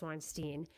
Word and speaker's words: Weinstein: Harvey Weinstein which really his name is spelled Weinstein but they say it's Weinstein he he was convicted and